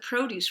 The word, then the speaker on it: produce: We saw that with produce, right? Produce, accent on the first syllable, tends to be a noun.